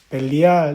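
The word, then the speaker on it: בליעל: 주석이 달려 있어요 그게 보면 히브리어로이 불량한 단어가 발음이 어떻게 되냐 하니까 분의 불리 이렇게 된다는 거죠 이게 벨리알 이렇게 되는 거죠 그래서 이것은 불량한 나쁜 악영향을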